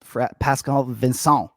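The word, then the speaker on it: Pascal Vigneault: with DJ too right I love the French pronunciation there Pascal vinon yeah it's that uh French immersion 12 years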